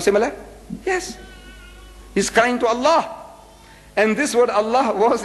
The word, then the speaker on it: Allah: alternatively spelled as Allah a l a h Al so the only exception I took that's about